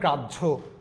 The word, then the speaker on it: গ্রাহ্য: দেখেন হয়ের পরে জফলা থাকলে, যেমন আমি লিখেছি সহ, না ভাইয়া এটা সহ্য, এখানে লিখছি গ্রাহ্য, কিন্তু হয়ে যাবে গ্রাহ্য।